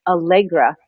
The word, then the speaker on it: Allegra: Today, I've got Mike Allegra.